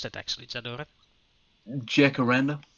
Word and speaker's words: Jacaranda: How do you pronounce that actually, Zadora? Jacaranda? Jacaranda. Jacaranda? Jacaranda.